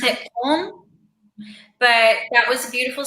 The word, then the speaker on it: Köln: They pronounce it Köln, but that was a beautiful city, very artsy.